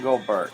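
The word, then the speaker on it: Engelbert: In Englebert, yes, that's how you say it.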